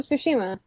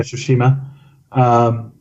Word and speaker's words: Tsushima: Oh, Ghost of Tsushima. Yeah, Tsushima.